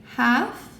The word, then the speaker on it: half: Half, this is one of those examples where sometimes in English we don't say the L, half, but other accents maybe do say the half. No, I don't think so. I think sometimes the L is silent.